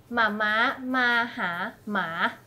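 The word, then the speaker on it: แม่มาหาหมา: It's like, it plays with the tone. So it's mama, maha, ma. Mama, maha, ma.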